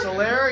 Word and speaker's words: Solaire: How do you pronounce his name again? Sal something? Sal? Sal? Solaire? Solaire, yeah.